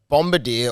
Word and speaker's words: Bombardier: oh no a bomb a bombarder or like Bombardier as it's spelled uh it's a military